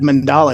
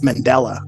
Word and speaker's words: Mandela: go okay you said it wrong you said mandala it's Mandela mandala no Mandela mandala it's named after the